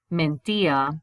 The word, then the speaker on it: mentía: Lucia mentía de vez en cuando. Notice the accent on the I.